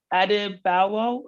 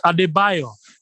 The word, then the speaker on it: Adebayo: question that's come through adebowel sorry miss if i mispronounce please tell me how to correctly say your name buyer it's adebayo adebayo okay yeah hi how